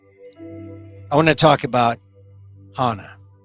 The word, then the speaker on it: Hana: show officially begins i want to talk about hana not hannah hannah this is significant and i was watching